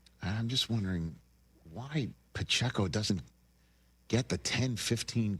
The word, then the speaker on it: Pacheco: And by the way, is there anybody who says every syllable of one person's name quite like Jim Nance says Pacheco? He lays into that PCO.